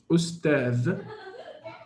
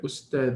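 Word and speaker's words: أستاذ: Okay, but this Hamza is permanent. Ustadh will not change regardless of the word that comes before it, right? So this word Ustadh will not change in pronunciation regardless of what comes before. You understand? The pronunciation of the U will stay the same all the time.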